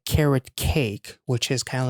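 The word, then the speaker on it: carat: is carrot cake now carrot it sounds like carrot like the food carrot cake but it is spelled as c a r a t which is Carrot uh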